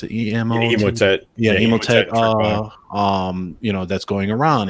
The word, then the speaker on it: Emotet: How do you pronounce it? Emotet.